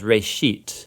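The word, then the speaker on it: Bereshit: Genesis comes from a Hebrew word. Uh it's pronounced reit.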